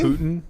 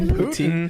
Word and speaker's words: poutine: Poutine? Putin? Yes, I did. Poutine. Vladimir Putin. I think it's spelled the same as Putin, to be honest.